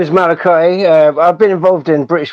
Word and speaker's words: Malachi: Wiso here pronounced your name Malachi, but I told him it's Malachi because he's just English is a second. Yeah, it's Malachi.